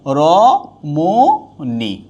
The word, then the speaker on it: রমণী: তাহলে কি হবে রমণী, রমণী। কখনো মূর্ধন্য হবে না, সবসময় দন্তন্য হবে, কখনো হ্রস্ব ইকার হবে না, আর কখনোই দীর্ঘ ইকার হবে না, সবসময় হ্রস্ব ইকার হবে।